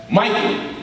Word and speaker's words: Michael: And then you'll have Michael, and the CH sounds like a K, right?